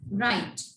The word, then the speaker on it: write: Here in this one sentence, the W is silent. We take start from R. Write. Clear?